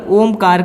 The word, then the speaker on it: ओम: अब जब हम मकार से आगे बढ़ेंगे तो यहाँ पर हम ओम का उच्चारण करेंगे। ओ को 70% ओ को बोलना है।